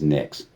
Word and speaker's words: Nyx: that curious pretty sure her name is nix yes spell it for them nyx there you go yeah